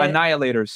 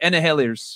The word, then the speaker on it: annihilators: what's the word though how do you say it annihilators annihilators annihilators yeah this is the word you said Anna healers I don't know it's